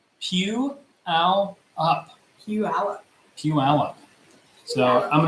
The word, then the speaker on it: Puyallup: It is pronounced Puyallup.